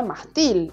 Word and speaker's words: mástil: también llevaría tilde ahora la palabra mástil es grave porque se acentúa en la penúltima sílaba si no sería mástil y ahí sí sería aguda pero como podemos ver el mástil tiene mayor fuerza en la penúltima sílaba y lleva tilde porque porque termina en